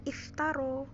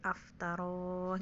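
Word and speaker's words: افترى: disitu makanya di situ kalau yang belajar sudah belajar bahasa Arab pasti biasanya bacanya iftaro kok ini bukan iftaro bacanya Ya karena dia kemasukan Hamzah istighfar a disitu jadi i nya dibuang maka menjadi aftaroh gitu ya mungkin bingung kan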